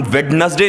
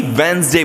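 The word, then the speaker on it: Wednesday: अब हम जानते हैं कि वर्ड्स के बारे में हम अक्सर गलत प्रोनाउंस करते हैं, जैसे वेडनेसडे, इसे हम वेडनेसडे नहीं बल्कि वेंसडे बोलते हैं, वेंसडे वेंसडे वेंसडे वेंसडे।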